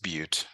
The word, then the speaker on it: Butte: find the distance from Ferris and this is pronounced Butte but this isn't an English class so you